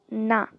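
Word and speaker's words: ㄴ: Next we have na. Na. It's like an N sound.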